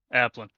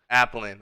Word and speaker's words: Applin: How do you say your last name? Applin. Applin. I feel like Alpha.